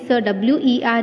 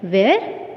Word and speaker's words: were: See students, most of you this WERE you used to pronounce it like where. It's not where, it's were.